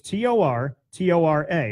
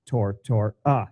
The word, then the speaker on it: Tortora: It's T-O-R-T-O-R-A. It's like follow the bouncing ball. Tortora. It sounds like we will rock you. Tortora.